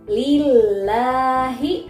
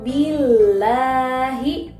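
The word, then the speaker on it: الله: Lillahi di sini berharokat kasroh. Jadi dibacanya tipis lafaz Allahnya. Oke, berikutnya yang ini. La yu'minu billahi.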